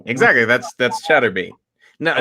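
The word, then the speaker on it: Chaturbate: It's spelled like masturbate, but it's chatterbait.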